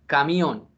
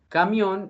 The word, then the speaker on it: camión: palabra aguda que es la expresión camión camión es una palabra que tiene clasificación de oxítona o aguda y en ese orden de ideas se va a tildar la vocal abierta de la última sílaba Sí si ustedes se